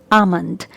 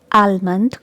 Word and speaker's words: almond: very common but mispronounced here letter l is silent so we pronounce it like amand it's not almond or almond it's okay another word